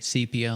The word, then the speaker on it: sepia: Um, C as in like sea sepia, like the ocean or the sea.